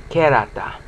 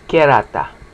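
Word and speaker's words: κέρατα: It's all it's almost always on the penultimate syllable. Never on the last. Well, sometimes on the last, but it's kerata.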